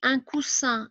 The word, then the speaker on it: coussin: cousin il y à un seul s on prononce the ici un coussin il y à deux aces on prononce voilà